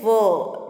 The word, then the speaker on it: were: Okay, children, the pronunciation is were. W-E-R-A is not where, it is were.